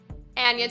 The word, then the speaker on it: Anya: hates on me in the comments yes it's pronounced in america people find it very hard to say my name it's anya they like aneurysm i'm trying to find a